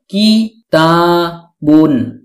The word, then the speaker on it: كِتَابٌ: প্রদান করে থাকেন ফলে কিতাবুনের অর্থ দ্বারায় একটি বই অনেক সময় আমরা কিতাব বলে থেমে যাই শুধু কিতাব উচ্চারণ করে মুখস্ত করে থাকি অর্থাৎ ওয়াফ করে ফেলি মানে শেষের তানভীনুনটি উচ্চারণ করি না আশা করি এখন আমরা